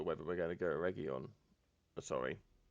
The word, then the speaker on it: Eregion: I've been called out for my pronunciation and I disappoint Galu. Which, I'm going to be honest, I'm perfectly fine with disappointing Galu. But probably should endeavour to say it correctly, all things being considered. So yeah, Eregion.